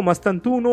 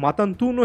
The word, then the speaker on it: Mastantuono: দিতে পারবেন প্লেয়ারটার নাম ফ্রাঙ্কো মাস্তানতুনো যেটাকে অনেকে মাতান্তুনো হিসেবে প্রোনাউন্স করেন যিনি কিনা বর্তমানে রিভার